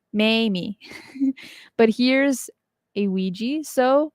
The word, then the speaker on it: Ouija: funny thank you now when you look at the word Ouija the letters look nothing like the wig it's pronounced and I have to